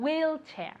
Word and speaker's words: wheelchair: spanish is very good wheelchair wheelchair okay the accent goes to the beginning wheelchair one more time very